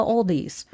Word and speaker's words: Aldi: to call it the Aldi's. Now, I understand from Baker and it hurt his soul that is pronounced Aldi and there is no the or an S at the end, but if you're in the Midwest, it becomes the Aldi's.